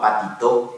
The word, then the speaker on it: Patito: ahí vos tenés dolores un caso que se llama Patito Patito con acento en el último lado básicamente trabajó la